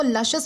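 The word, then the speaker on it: luscious: इसे जो है वो लशेस प्रोनाउंस किया जाता है जिसका मतलब होता है बहुत ही ज्यादा स्वादिष्ट या फिर रसीला।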